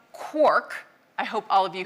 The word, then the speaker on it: quark: So in Finnegan's wake, it's clearly rhymes with Mark, but as Galman says, he needed it to rhyme with quark.